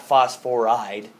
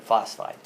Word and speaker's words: phosphide: furs called sulfite about phosphorus phosphide not phosphor ID but phosphide okay so these are all pretty much two syllable words with IDE in when you have to